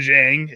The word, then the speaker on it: Dieng: Ousmane Dieng.